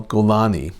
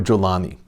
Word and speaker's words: Jolani: terror Abu Muhammad Al gani AKA jolani is pronounced differently depending on your Arabic dialect gani or jolani he's the leader of